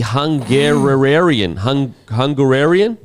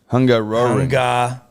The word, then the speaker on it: Hungaroring: Hungaroring. Where the fuck am I looking? Hungaroring. It's a, H-U-N-G-A-R-I-A-N. no, there's R-O in between that.